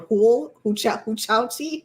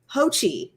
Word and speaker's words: Hochul: I can never say her name because I want to call her Huchauchi, and that is not her name. Because Hochul, I always say it wrong.